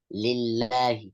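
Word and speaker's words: لله: When the lam of Allah has a kesra before, we make it sound like lillahi.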